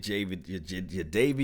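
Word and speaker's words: Jadeveon: You look, the Seattle Seahawks are trying to get Java, that's how you say his name, Clowny.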